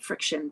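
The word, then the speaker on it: Frixion: And then we are going to Frixon. Yes, it's called friction, but it's not spelled like friction like we think.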